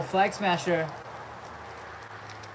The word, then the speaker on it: Flag Smasher: Oh, Flag Smasher. This is not a what if. And please make sure you pronounce the flag, the L in Flag Smasher.